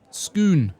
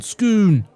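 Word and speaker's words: Scone: Pronounced Skoon. That's the one. Skoon.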